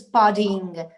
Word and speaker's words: pudding: E lo so, l'inglese è impossibile, purtroppo si legge pudding. Pudding. Non pudding. Lo so, dovrebbe essere con la, ma invece no.